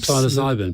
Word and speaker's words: psilocybin: Can you ask Alastair about, I don't know how you pronounce this, PSILOCYBN. Psilocybin.